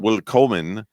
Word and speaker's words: Willkommen: No, it's willkommen.